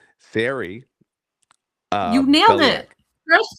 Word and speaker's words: Sari: We'll even get to know how to pronounce her name correctly. So, and let me see if I get this right. Sari You nailed Beliak.